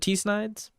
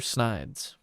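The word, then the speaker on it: Tsnides: Is it T Snides? Or Snides? The T is silent.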